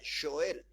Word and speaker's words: Joel: más sobre Joel y en realidad se pronuncia Joel así se pronuncia Joel